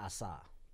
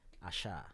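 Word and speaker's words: Asa: call it that right many people used to call it Assa and it's actually Asha all right somebody that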